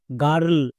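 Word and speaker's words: girl: আর sound করে দেব next এল এল এর জন্য লো তাহলে কি হলো জি আই আর এল গার্ল এখানে কিন্তু আই এর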